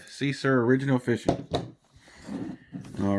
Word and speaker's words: Seasir: at the I think the pronunciation of this is Cesar s-e-a-s-i-r that's something I can think of see sir original fishing all right